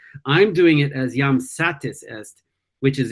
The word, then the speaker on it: satis: doing it as yam satis est which is a difference between a long a satura versus a short a satis satis means enough knowing